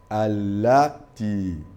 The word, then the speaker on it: التي: Allati. Attention, kalmatu allati, c'est Ashamsiyatu Sahih, mais là est prononcé comme allazi. Hein? C'est les pronoms relatifs. Donc ici, on écrit ati, mais on lit allati.